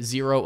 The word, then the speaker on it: Xero: zero now zero uh is pronounced zero but it's spelled x-e-r-o so x-e-r-o kind of